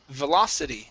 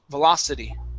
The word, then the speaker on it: velocity: word here is pronounced velocity so our stress is right here in the middle velocity velocity yeah there you